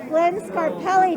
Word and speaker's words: Glenn Scarpelli: the hollywood museum with glenn scarpelli did i say it right you did it's like you speak italian tommy are you